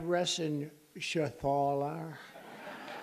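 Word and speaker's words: Reschenthaler: thank you and Guy Ren Shaler you know that Ren Shaler he's a that's actually the way you pronounce it you know nobody else gets it right I got it right but it's a it's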